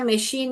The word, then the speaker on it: machine: तो आपको इतना, आपको यहाँ पर ही करेक्ट करना पड़ेगा कि बेटा मशीन में वाला ये श नहीं आएगा, आपको सी एच लिखना है।